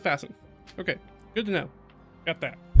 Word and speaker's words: Vaesen: Apparently that's how it's pronounced. I was saying Vaesen, and I was like, I should probably look that up. And they're like, oh, it's Vaesen.